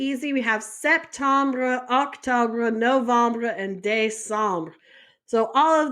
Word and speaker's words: novembre: Novembre is November. And that's pronounced like no. Vom. Bruh.